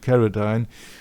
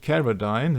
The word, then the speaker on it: Carradine: But then it is the photo of the hanged man in the Thailand hotel of David Carradine.